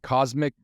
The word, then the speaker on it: COSMC: about the McDonald's, the cosmic thing they're doing? Really? They're doing something new? They're trying something new, believe it or not. So it's called Cosmic McDonald's, and that's spelled COSMC, like McDonald's.